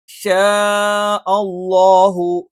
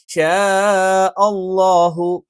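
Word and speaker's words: شَاءَ اللَّهُ: ഇല്ല ഇല്ല എന്നുള്ളതൊക്കെ നിങ്ങൾക്ക് കൃത്യമായ രീതിയിൽ ഉച്ചരിക്കാൻ അറിയുണ്ടാവും ഷാ അളളാഹു ഷാ അളളാഹു ഇവിടെ ഷാഅ എന്ന് പറയുമ്പോൾ ഇവിടെ എന്ത് ചെയ്യുന്നുണ്ട് ഈ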